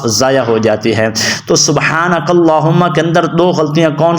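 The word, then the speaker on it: سُبْحَانَكَ اللّٰهُمَّ: سبحانک اللہم، ہا کو موٹا پڑھنا ہے، اس لام کو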